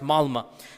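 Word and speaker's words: Malmö: malma malma it's it's it's spelled with an O but it's pronounced malma and they said that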